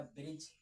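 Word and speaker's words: bridge: हो गया हमारा ब्रिज।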